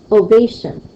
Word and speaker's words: ovation: how about this one ovation ovation ovation they has the stress to it so that would be a second stress syllable and this is what